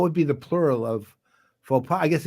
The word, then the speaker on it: faux pas: in French, you don't pronounce the consonants unless there's a vowel after, or unless it's It's faux pas, but what would be the plural of faux pas?